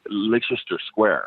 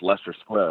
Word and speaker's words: Leicester Square: have to go to I was pointing at what I was pronouncing as Leicester Square, right? Right? Okay. and then somebody was like, "Oh, no, you mean Leicester Square?" And I'm like, "Wait, what are you talking about?" And they're like, "Yeah, no, that's pronounced Leicester Square."